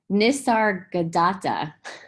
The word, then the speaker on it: Nisargadatta: lost in thoughts and nasarah gotta and his name wrong nisargadatta he said the mine creates the abyss and